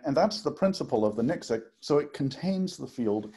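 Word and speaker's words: NXIC: Well, I pronounce it as Nyxic, N-X-I-C, something like no external inductive current.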